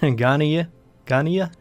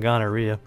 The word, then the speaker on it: Ghia: of one Joseph GH I think that's how you pronounce his name Ghia Ghia definitely not ganaria uh but uh really